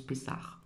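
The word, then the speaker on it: Pessah: Donc, c'est vrai que pour cette fête euh qui s'écrit P et 2 SH, mais ça se prononce pess.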